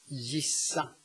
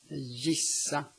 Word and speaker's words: gissa: But the G may also be pronounced J when it's located in front of a soft vowel or at the end of a word. Gissa. Gissa.